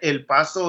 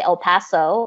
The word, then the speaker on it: El Paso: Like, and it doesn't bother me if someone wants to say El Paso or El Paso. But I think if you're bilingual and you have the skills to be able to pronounce it correctly, why not normalize that?